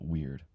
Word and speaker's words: wyrd: The ancient Anglo-Saxons and Fians called it weird. Wy RD.